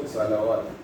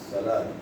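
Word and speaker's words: الصلوٰة: It's not salawat. Waw is silent, it's salat.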